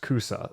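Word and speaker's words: 草: And there is a Chinese character, a kanji character loaned into Japanese for grass that is pronounced kusa.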